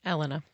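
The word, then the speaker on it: Elinor: Elena.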